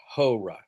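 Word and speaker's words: ὥρα: but it's ha and that's the word hour. Okay? And so it's an amocrron row alpha and so it's but it's aspirated. Horra.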